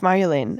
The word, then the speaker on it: Marjolein: He's like, it's Marjolein. I was like, it's pronounced Marjolein.